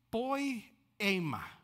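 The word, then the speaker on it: ποίημα: original, en el griego, porque se pronuncia de esta manera: poiema.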